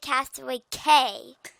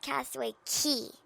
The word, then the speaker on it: Castaway Cay: Everybody calls it Castaway Cay, but it's actually pronounced Castaway Key.